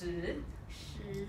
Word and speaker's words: 石: And so over time, that is the Chinese word for rock that we're using today, and it's pronounced shi.